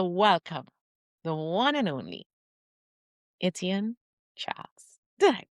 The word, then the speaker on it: Etienne Charles: Yeah, please help me to welcome the one and only Etienne Charles. Did I pronounce that well, my friend?